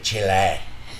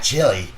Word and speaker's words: Chile: And I pronounced that correctly, Chile, right? That's how you do it. Not chili.